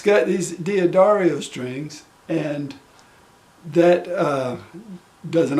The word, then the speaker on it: D'Addario: keep their tuning quickly this ukulele has dia dario strings that's how i pronounce it i'm not from italy so that's the way i do it it's got these d'addario strings and that uh